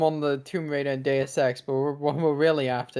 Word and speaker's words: Deus Ex: a bunch of IP like Tomb Raider and Dos Ex. Is that how you pronounce it? I think so. That's how you pronounce it. Dos Equis. What? What are you talking about Deus Ex?